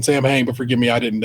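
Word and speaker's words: Samhain: Sam I feel like they said Sam Juan. They pronounced it a different way. They pronounced it the Irish way, which is probably the way to pronounce it. And so I'm saying Sam Hang, but forgive me, I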